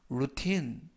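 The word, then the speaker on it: routine: 의류 할인 매장에 가자라는 뜻이 되겠습니다 이번 표현은 루틴 루틴 루틴이라고 발음하시면 되겠고요 이때 강세는 뒷부분에 있는 알파벳 아의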